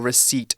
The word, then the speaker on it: receipt: We also have an example sentence for receipt as well.